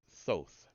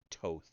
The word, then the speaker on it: Thoth: or Ibis-headed wisdom god Thoth, or or Toth, I've heard some people say. Thoth, Thoth, Toth, however you want to pronounce it.